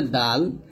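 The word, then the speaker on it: دال: এখন শিখবো হচ্ছে দাল। দাল জিহ্বার আগা সামনের উপরে দুই দাঁতের গোড়ার সঙ্গে লাগিয়ে উচ্চারণ করব, তার মতো দাল।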